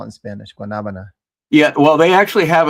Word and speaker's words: guanabana: That's guanabana. Yeah. Well, at least that's how you say it. Guanabana.